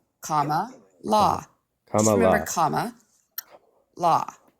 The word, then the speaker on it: Kamala: Comma law.